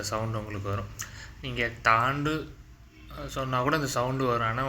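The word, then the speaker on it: ث: இது தா கிடையாது. சா அப்படின்னு சொல்லிட்டு சா சான்னு சொல்லுவாங்க. ஆக்சுவலா இது தாவும் கிடையாது சாவும் கிடையாது. இதோடைய உச்சரிப்பு வந்து கொஞ்சம் டிஃபரண்டா இருக்கும். அது சா இதோட அதாவது சான்ற சவுண்டு இருக்கும். ஆனா அதோடைய உச்சரிப்பு அந்த ஒளி அந்த ஒளி வந்து வேறுபாடு இருக்கும். நார்மலா சா அப்படின்னு சொல்றதுக்கும் சா அப்படின்னு சொல்றதுக்கும் வித்தியாசம் இருக்கு.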